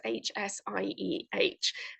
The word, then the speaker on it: Hsieh: I'm not sure how you pronounce the name. It's Hsieh.